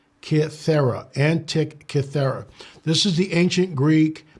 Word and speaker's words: Antikythera: We had someone ask me about it's pronounced Antikythera. Antikythera.